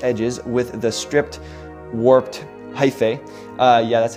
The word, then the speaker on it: hyphae: And over here, we can also put rounded off edges with the stripped warped hyphae.